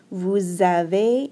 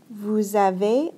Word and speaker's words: vous avez: This EZ makes an A sound. Okay, we don't hear the Z at all.